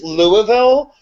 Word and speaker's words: Louisville: America Robbie you it's it's Louisville the S is silent oh I'm sorry I'm